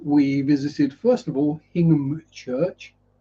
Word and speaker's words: Hingham: Yeah, so we visited, first of all, Hingham Church. If you're American, you would pronounce it Hingham.